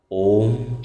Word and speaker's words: ওম: আর এই ওয়ের উচ্চারণ পেট থেকে, অয়ের উচ্চারণ গলা থেকে, আর ময়ের উচ্চারণ মাথা থেকে হবে। আমরা কিন্তু এই ওম শব্দ উচ্চারণের মাধ্যমে আগে